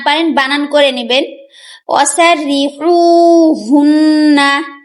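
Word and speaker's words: وَسَرِّحُوهُنَّ: ওয়াসাররিহুন্না, এখানে দেখুন ওয়াসাররি, তারপরে এখানে বড় হা, হলকের মধ্যখান হইতে আইন হা। আমরা কিন্তু হা যেখানেই থাকুক না কেন আমরা পড়ার সময় গলা থেকে উচ্চারণ করব, আর এটা কিন্তু হলকের শুরু হা।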